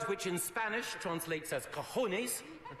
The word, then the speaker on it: cojones: in Spanish translates as cojones rhymes with Rolex now I know mr.